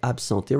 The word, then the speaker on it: absenter: But then in that case, you will pronounce it a bit more like p-p-p, absenter. If you listen, most of the cases people will pronounce like if it was a P and not a B.